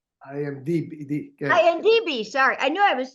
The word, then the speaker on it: IMDb: um I just started I looked at gian's imgb or did I say it right well well audiences are not as intellectual intellectual as you can you let our audience know what imgb means I am d i DB sorry I knew I